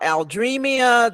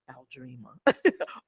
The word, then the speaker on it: Aldreama: They can't figure out Aldreamia. They put extra syllables. They, Aldreama, and I'm like, it's Aldreama. But most Yes.